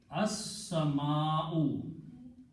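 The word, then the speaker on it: السَّمَاءُ: And here, seen is a shamsi letter. It gives the sound of lam, and you have to pronounce seen 2 times. So it becomes as-sama, and also al changes 2 dhammas into 1 on the last letter. So the final word is as-sama'u.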